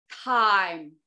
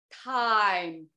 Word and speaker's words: thyme: 最后一个 Thyme Thyme 它跟时间我们说的那个时间啊是一个发音 Thyme 我们呢